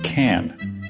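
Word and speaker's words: Cannes: The correct pronunciation is can like a can of soup, not like cans of soup.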